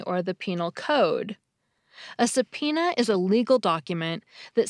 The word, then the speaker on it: subpoena: Since the B is silent, but I vaguely knew the word had a B in it, I couldn't remember how to spell it.